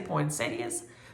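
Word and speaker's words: poinsettia: has deer it has poinas as um jise would say poinas which is the correct way to say it and um it has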